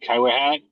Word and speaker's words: Kitewayhat: Uh yeah, my name is uh Kaiat, as you said before, and you did say it correctly.